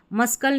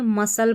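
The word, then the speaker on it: muscle: जैसे यहां पर देखें इसको मस और कल नहीं पढ़ते। मसकल नहीं पढ़ते। मसल पढ़ते हैं। ठीक है? मसल पढ़ते हैं। और यहां पर यह जो सी है ना इसका उच्चारण नहीं सुनाई देता। यानी कि एक तरीके से साइलेंट है।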